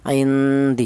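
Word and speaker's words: عِنْدِ: Nun mati ini cara bacanya disamarkan indi seperti itu. Karena apa? dibaca samar atau ikhfa. Karena nun mati ini berjumpa dengan huruf dal. Di mana huruf dal ini termasuk hurufnya ikhfa. Indi ya seperti itu.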